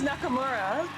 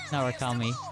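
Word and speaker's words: Narukami: I realize I've been saying the main character's last name wrong. Yeah. For like a year. I thought his last name was Nakamura. No, Narakami. And now I'm just actually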